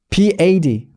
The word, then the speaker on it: bad: 그래서 I, B-A-D, bad는 bad 이렇게. 어이, 애는 입 벌리지 않고 bad, bad.